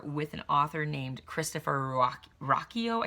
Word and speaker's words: Ruocchio: And we did an interview back in early October with an author named Christopher Ruocchio. I think I'm pronouncing his name right. It's spelled Ruocchio, I believe.